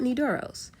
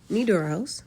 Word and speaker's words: Nydoros: While we're watching this, I'll tell you guys some more about Nidoros. Nidoros, which is spelled N Y D O R O S, and it means night gift.